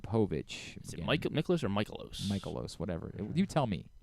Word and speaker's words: Mikolas: I think it's Michaelos. It's an A at the end, so Michaelos.